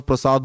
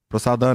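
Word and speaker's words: prasad: पर चतुर्वेद श्री भगवत प्रसाद है प्रसादा नहीं है प्रसाद और यह भी है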